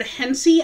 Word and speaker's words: Hense: there's a building with the word hencey i think that's how you pronounce it it's h-e-n-s-e on the top of